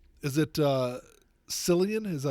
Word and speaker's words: Cillian: Killian. Is it It's Killian, yeah. With a C? Yeah. Well, someone needs to tell his parents they spelled his name wrong. They probably spelled it the Gallic word, the Gallic version.